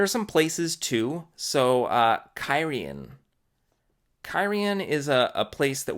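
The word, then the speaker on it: Cairhien: time any of the POVs actually get to carrion I had looked it up by that point and was pronouncing it correctly but up until then I was calling it care Haines care Haines yeah um what's next here Quinn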